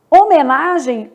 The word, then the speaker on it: homenagem: Homenagem, o H não é pronunciado.